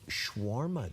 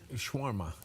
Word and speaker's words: shawarma: Also, National Shawarma Day.